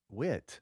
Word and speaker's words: Whit: Whit. Say it like Hobie. Oh, Whit. Right.